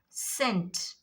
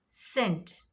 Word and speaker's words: scent: In scent also, scent, scent. After S C, before E C.